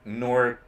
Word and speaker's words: Norkeisha: Anyway, I'm mispronouncing a cool name. Thanks for sorting that out.